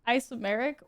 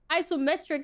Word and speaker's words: isometric: There is a T. Every single time I say there's a T, you yell at me and say there's not a T. I used to say it isometric in the beginning, and you're like, wow, you don't pronounce it that way.